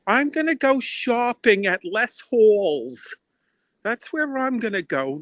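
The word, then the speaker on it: Les Halles: after I go to less Halls I'm gonna go see that beautiful that wonderful play less Miserables I want to wash my hair yes because ow we have the H is Silent not the owl Al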